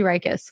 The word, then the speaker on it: Ryckis: having me on the podcast yeah did I pronounce that right ethos you you absolutely nailed it ethos benefits and Chelsea rikus well done awesome awesome hey I want to